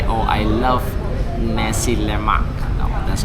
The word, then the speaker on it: nasi lemak: So you don't stretch the words. You don't say nasi, you don't say lemak. Nasi lemak.